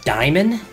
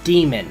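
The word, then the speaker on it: daemon: impossible is that a diamond a lot of people mispronounce that as demon according to the latin vernacular a e is pronounced as an i just something that uh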